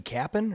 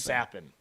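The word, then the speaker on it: Capan: He's from Is it Frankie Kappen or is it Sappin? Sappin.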